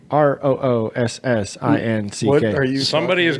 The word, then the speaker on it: Roossinck: Roossinck. Right. Oh, that's like the Aardvark song. Roossinck.